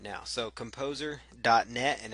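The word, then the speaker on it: KompoZer: that we will be using in fact it's spelled with a Z not an X that is composer kom poz er and it is a free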